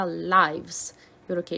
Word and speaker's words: lives: 자, 요 단어를 lives라고 읽지 않도록 live는 살다의 live에 3인칭 이 주어가 오면은 s가 붙으면 lives라고 읽지만 명사의 life라는 단어가 복수가 되면서 FE가 VES로 바뀌면서 삶들이라고 표현을 할 때는 lives라고 읽어줘야 되겠죠.